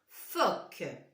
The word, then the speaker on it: phoque: Un phoque. Phoque. On avait dit bien sûr, on entend le son f. Le voilà. Et il est là ce mot. Phoque. Phoque. C'est un O ouvert.